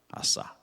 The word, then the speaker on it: 아사: ASA, 아사, 아사. 영어 발음이에요.